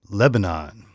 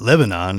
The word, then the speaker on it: Lebanon: And so, but the thing that tripped me up, and this is the point of the thing, is I mispronounced Lebanon. It's not Lebanon, it's Lebanon.